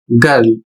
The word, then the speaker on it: girl: इसमें नियम है कि जब आई के तुरंत बाद, यहां पर देख सकते हैं आई के तुरंत बाद आर आता है, तो आई का अपना साउंड बदल जाता है और वह साउंड किस रूप में हो जाता है, तो आई का साउंड आ हो जाता है।